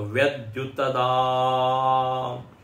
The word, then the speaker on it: व्यद्युतदा: तस्यैष आदेशः तस्यैष आदेशः यदेतद्विद्युतो व्यद्युतदा उसके दा के आगे ई 3 लिखा हुआ है ना, 3 मतलब प्लुत का वो संकेत है। प्लुत मतलब दीर्घ से भी थोड़ा और बड़ा उच्चारण करना है। एक होता है रस्व, रस्व से दुगना दीर्घ, और रस्व से ट्रिपल प्लुत। तो व्यद्युतदा ऐसा उच्चारण होगा।